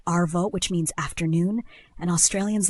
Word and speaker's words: arvo: And think of it as just shortening afternoon and swapping the end for a quick vo.